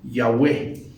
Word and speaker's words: Yahweh: los adultos dicen que lo más posible era que se pronunciara Yahweh y este Generalmente era